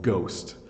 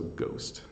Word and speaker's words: ghost: the crowd and then sometimes rarely gh comes at the beginning of the word so ghost good so it makes the good sound so ghost well that's it that's